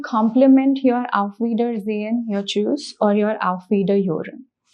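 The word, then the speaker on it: Tschüss: sound of U so the pronunciation is choose so Cho or Chow you can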